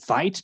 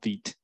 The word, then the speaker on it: Vite: Vite is also a French word, which is why it's pronounced Vite. A lot of people pronounce it Vite, but it's actually Vite because it's a French word for quick.